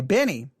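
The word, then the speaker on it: Benee: to be listening to benny her her name is spelled b-e-n-e-e-b-e-n-e-e so when you say benny it just seems weird um but that is her name all right anything about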